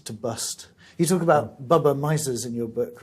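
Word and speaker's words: bubbe meise: You talk about Bubba Misers in your book, right? Yes. That's My Yiddish isn't very good. Am I pronouncing that properly? pretty good. Yeah. Bubba Meise.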